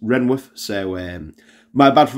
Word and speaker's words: Rainworth: and first off apologies I've been saying rainworth through the video I didn't realize it were actually uh pronounced renworth so um my bad